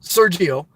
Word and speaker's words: Sergio: G Oh sir mix-a-lot Sergio like Geo van okay I think I got two now Sergio but I don't care